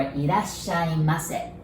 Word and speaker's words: Irasshaimase: Irashai or Irasshaimase.